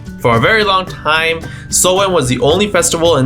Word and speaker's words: Samhain: It was called, written like this and pronounced like this. So Halloween wasn't always Halloween. In the ancient festival, it was called Samhain.